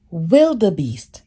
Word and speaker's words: wildebeest: Wildebeest. Okay, there, I said it. Wildebeest, all right?